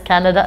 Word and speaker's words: Kannada: So yeah, Kannada. One more time. Kannada. Kannada. Just pronounce it as Canada.